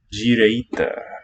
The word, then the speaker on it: direita: So not the tonic syllable. Ah. There you wouldn't get the palatalization. For pre-tonic, you can have G for written D. And note here too the vocalization, direita, of a K sound.